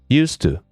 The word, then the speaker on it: used to: use to, simply because use to and used to are both pronounced used to. There's no difference in pronunciation because of the speed of speaking.